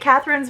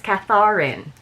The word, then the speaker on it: Catharin: many of you get Catherine's poor name wrong. So it's with 2 A's. Instead of Catherine, it's Catharin. Remember.